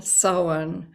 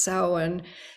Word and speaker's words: Samhain: scotland and ireland would have celebrated is called sauwan a pagan religious festival originating from an ancient celtic spiritual tradition on tuesday i hope that you join the salon it's looks like samhain but it's pronounced samhain traditional celebration that will be happening at our